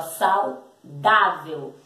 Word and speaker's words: saudável: V-E-L, véu, saudável. Lembra que tem um acento agudo no A da sílaba da, que é onde tem a sílaba, nós pronunciamos a sílaba com mais força, ó, saudável.